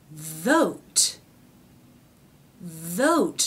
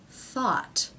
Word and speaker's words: thought: we add a t vot vot no that's not right that word is pronounced thought Okay so we've switched back to an unvoiced th now we have the a vowel and a final T thought thought thought okay